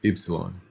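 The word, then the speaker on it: ípsilon: so like yo-yo but how you would pronounce this letter is Epsilon Epsilon each song Yeah remember this is stressed here on the eye and the I is pronounced e so Epsilon good job and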